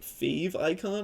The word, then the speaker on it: favicon: if that's how people maybe people pronounce it like fave icon I'm not sure I always say favicon but that's this little